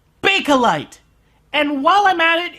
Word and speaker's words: Bakelite: It's pronounced Bakelite.